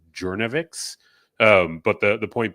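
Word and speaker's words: Journavx: I believe it's pronounced Jouavix.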